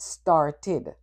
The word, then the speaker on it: started: And then you add ed, you get started. The ed is not ed. It's itid.